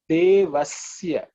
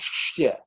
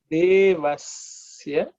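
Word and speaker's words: देवस्य: Bhargo Devasya. This is also, I have heard people pronounce it as Shya. Okay. It's Isya, which is dental. The tongue should be just touching the teeth.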